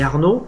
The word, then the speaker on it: Arno: la fin de, et Arnaud, c'est tout simple, ça s'écrit A-R-N-O, exactement comme le fleuve à Florence, en Italie, ville romantique, pays romantique d'ailleurs, de la chanson. Donc voilà, Arnaud.